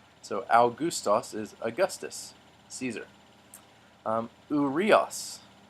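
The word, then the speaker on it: Αὔγουστος: al gustas our Gustaf's so we have two diphthongs in this the alpha oops on at the beginning proach next to the owl and the alma corpse on which makes the ooh so al gustas is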